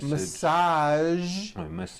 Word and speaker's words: massage: go now there are only a few words that have the voiced J sound at the end a few of these words are beige the color beige the word massage and the word prestige okay now that